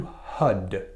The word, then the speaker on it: Har: more closely pronounced to HUD and the reason for that is because when you say har what you do is you take the tip of your tongue and you touch the top of your palate so